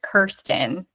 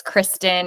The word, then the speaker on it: Kirsten: I said the same thing about my son Roy because So, my name's pronounced Kirsten, but everyone says Kristen and Kirsten.